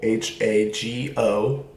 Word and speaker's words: hago: We have yo hago, H-A-G-O, hago. Tú haces, él hace. Remember, in Spanish, when there's an H, you don't pronounce the H. So it's hago, haces, hace.